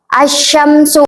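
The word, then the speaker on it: الشمس: Jadi si alif lamnya ini nih enggak usah dibaca, langsung aja ke huruf sya asyamsu gitu kan lamnya enggak jelas kan enggak kedengaran terus arrahman gitu langsung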